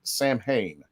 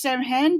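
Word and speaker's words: Samhain: Sam Hain. Close. Sam Hain. Yeah, very That's close. how it's spelled.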